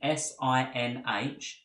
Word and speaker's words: sinh: We're primarily interested in three hyperbolic functions: the hyperbolic sine, which is written S-I-N-H and is pronounced sinh; the hyperbolic cosine, which